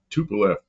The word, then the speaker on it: Tu: tupf TU 144 244 because they they pronounce the TU as two but if you say say that in English it sounds like you're saying 2144 but you're not you're saying tup Tu 144 it was